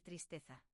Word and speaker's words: tristeza: Y otra cosa super común, mucha gente pronuncia mal tristeza. No es triste za no es triste za con la fuerza en T.